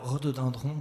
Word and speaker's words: rhododendrons: sorte graphie rhododendrons alors rhododendrons s'écrit avec une lettre qui ne se prononcent pas et donc voilà j'attends